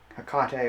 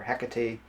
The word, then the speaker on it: Hecate: an H would be Hecate or Hecate. Hecate, there's different pronunciations depending on whom you ask, but that is the